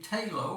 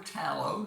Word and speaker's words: Talo: This particular one is a Talo or Talo, depending on your preference or pronunciation, exclusive.